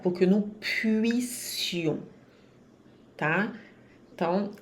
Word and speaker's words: puissions: Cuidado para não dizer puise ou puision. O som não é z, é s, de sapo, tá? E marca bem o biquinho para ter o u.